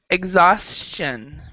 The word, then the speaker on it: exhaustion: okay this one is exhaustion exception so we don't actually pronounce the h here and it's ostian yeah